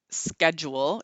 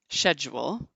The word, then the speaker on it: schedule: starts with you say schedule he's British we say schedule he's a British transvestite stand up comedian you say schedule we say schedule you say aluminium we